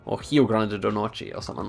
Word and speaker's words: Rio Grande do Norte: And I've heard it's pronounced Rio Grande do Norte, or Rio Grande do Norte, or something like that.